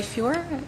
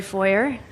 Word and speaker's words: Foyer: okay felt like a it's a it's the three vowels together you know hello everybody my name is foyer now that we've got